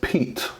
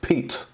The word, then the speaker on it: Piet: the crkt Piet Piet so it is actually pronounced Pete Pete this is a crkt